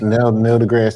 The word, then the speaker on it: deGrasse: Nice, Neil deGrasse Tyson.